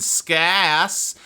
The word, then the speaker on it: ska: The A in ass is not how you pronounce the A in ska.